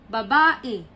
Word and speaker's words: babae: it's a female okay or babae the stress is in the second syllable one two no it's wrong it's okay so when you